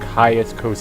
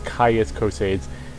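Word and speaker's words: Caius Cosades: see this guy named Ka Kos I think I mispronounced as cases uh the the Roman dimension of the Imperials kind of taking over my brain there but his name is kais coads and he's in balur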